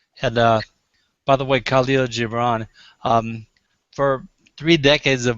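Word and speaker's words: Kahlil Gibran: was really powerful and uh by the way Kalo gibron um for three decades of my life I wondered how to pronounce that name I'm was really glad that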